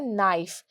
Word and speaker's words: knife: बच्चों ये जो के होता है, के हमेशा नाइफ में क्या होता है, साइलेंट होता है। क्या होता है, साइलेंट होता है। मतलब हम लिखते तो इसको KNIFE, नाइफ, लेकिन हम इसको पढ़ेंगे कैसे, के को हटा के NIFE, नाइफ, ठीक है।